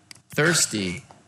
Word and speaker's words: thirsty: Thirsty. Thirsty. Chữ thở các bạn đưa lưỡi ra và cong lưỡi lên xì nhẹ.